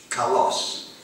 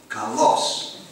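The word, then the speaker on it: καλός: that is most often translated as beautiful is Kos this is spelled I will spell it in English spelling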